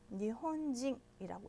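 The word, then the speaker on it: 日本人: 일본인 어떻게 읽었죠? 니혼진이라고 읽었습니다. 그래서 뭐뭐인, 일본인 할 때 징이라고 음으로 읽었죠.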